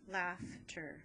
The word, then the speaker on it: laughter: the augh together but the gh here is gonna say f laugh tur and i'm gonna put my laugh together and my tur i'm gonna separate my syllables right there laughter my sound my vowel